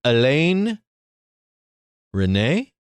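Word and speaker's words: Resnais: Alain René? Yeah, the S is silent.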